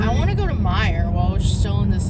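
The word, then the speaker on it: Meijer: Please don't mispronounce it. It's a Mayer. great store. Myers. Mayor. Look at the pronunciation. Mayer. That's how I'm saying cute. Mayer. Myers. Mayors. Myers. Mayer. Like for Mayer. No, because that's spelled like Myers.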